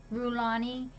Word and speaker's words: Rhulani: her so class is going to be going rule Ani it's spelled aw you almost got it right there